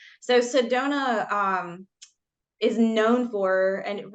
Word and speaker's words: Sedona: you actually said it brought properly it is Sedona so Sedona um is known for and really that originally